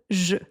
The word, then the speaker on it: je: À l'oral, on prononce presque jamais le « e » de « je ».